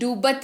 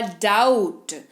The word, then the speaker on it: doubt: फिर है DOUBT, डूबत नहीं, बी को भूल जाइए, होगा डाउट।